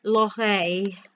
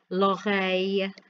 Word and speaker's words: l'oreille: For ear is a bit of a tongue twister, l'oreille. And it's a y sound where the two L's are put together, l'oreille.